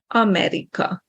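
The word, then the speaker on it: Amerika: So going back to our previous example, the English word America in Hungarian is America. So you pronounce every syllable, every vowel as equally clearly, whether it's stressed or unstressed.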